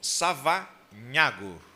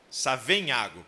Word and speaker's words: Savenhago: Savanhago, pronunciei certo? Savenhago, perdão.